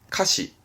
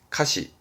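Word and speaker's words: 歌詞: 발음은 카시. 항상 이 한자 음독은 시입니다. 카시.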